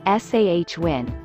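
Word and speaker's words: Samhain: day and age sawwin a Gaelic word pronounced sah win is customarily ceremonialized from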